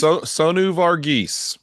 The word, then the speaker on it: Sonu Varghese: Yes, Sonu Varghese.